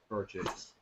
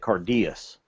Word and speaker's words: Auchentoshan: Now it's I would pronounce it Cardias, but it's car chase or Cardass. That's what it looks like. Yeah, it's once I did some research into it, they said the easiest way to pronounce it is just say car chase.